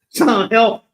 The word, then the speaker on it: Silent Hill: By the way, you're actually mispronouncing the game. What is it? It's Silent Hill. Silent Hill. Yeah. Yeah. I love that. I like that you're trying, but yeah, Silent Hill.